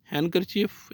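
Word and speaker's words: handkerchief: डी इज़ not pronounced in following common words. हैंडकरचीफ इसको बोलेंगे, hand नहीं बोलना है। और इसी तरह वेडनेसडे नहीं बोलना है। इसमें दोनों में जो डी है वो साइलेंट है।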